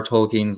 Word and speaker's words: Tolkien's: modern understanding of orcs that comes from junior Tolkien's the Lord of the Rings and yes that is how you pronounce his name I wanted to see if